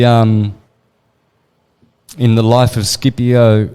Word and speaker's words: Scipio: in the life of Scipio, or Shippio, which is the right way it should be pronounced in Italian, the great general who defeated Carthage.